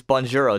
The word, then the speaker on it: Bonjouro: So the other one is Bonjouro. This is number 3, right? Yeah. Yeah. So Bonjouro, it's spelled like bonjour, Bonjour with the O, Bonjouro. So you go to that